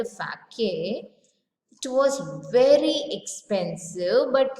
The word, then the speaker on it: sake: Sake, the pronunciation is fa.